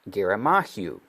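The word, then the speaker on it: ירמיהו: Or another way of pronouncing in Hebrew is Geramahu.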